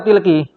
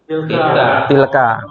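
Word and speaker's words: تلك: Tilka atau tilki? Tilka. Kenapa dia boleh dibaca tilki? Mabni. Maka dia tetap patah.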